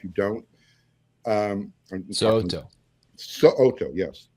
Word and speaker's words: So'oto: Make sure you pronounce that last name correctly, because he will correct you if you don't. So'oto, yes. So'oto, boom.